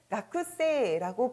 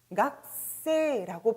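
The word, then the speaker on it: 学生: 따라서 학생이란 단어를 가쿠세라고 배우지 않고 그동안 갓세라고 발음했던 것은 바로 같은 행의 글자가 아니어서 스펠링은 바뀌지 않으나 발음만 초금으로 바뀐 형태라고 여러분들이 기억해 주시면 되는 것이죠.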